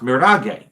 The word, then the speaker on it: mirage: Now, it's spelled like the English word mirage, but in continental Latin, it would be pronounced mirage.